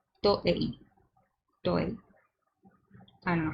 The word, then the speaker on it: Toei: So I need to pronounce it like I would pronounce it in Spanish and not in English. Toei.